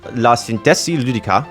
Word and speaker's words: La Sintesi Ludica: Thank you again to, I believe it's pronounced La Sintesi Ludica. It's Italian, I know that.